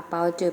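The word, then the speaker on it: 包子: ออก เสียง สิ คะ มี ไฟ ช้างให ขา เปาจื่อ แปล ว่า เก่ง มาก ค่ะ ใน ภาษา จีน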